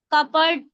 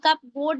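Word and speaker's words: cupboard: देखिए यहां पर पी जो है पी साइलेंट होगा आपका कबर्ड कप कप बोर्ड नहीं बोलते उसको कबर्ड बोलेंगे कबर्ड रासबेरी नहीं रासबेरी निमोनिया निमोनिया की स्पेलिंग किस-किस को पता है?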